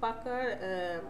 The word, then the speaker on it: Pucker: এখানে দেখেন এই যে 2 নাম্বার আছে পাকার, অনেকে পুকার বলে, পাকার বলে, যে যেমন উচ্চারণ করে, পাকারে অ্যান্ড ব্লট আছে, এটাকে সিলেক্ট করেন।